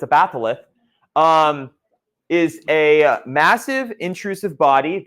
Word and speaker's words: batholith: A batholith, that's how you say it. I don't have a lisp. I know every time I say it, it sounds like I have a lisp.